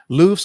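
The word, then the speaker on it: LUFS: is what is a and how did you spell that l-u-f-s what is aloof loofs are units of audio loudness the acronym stands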